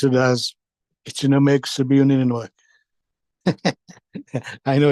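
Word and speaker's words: Kitchenuhmaykoosib Inninuwug: KI, we pronounce it as Ichinomeg Sabiunininoek.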